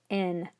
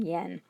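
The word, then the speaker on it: 円: the word yen from, which now is actually pronounced in Japanese, modern Japanese, as en rather than yen.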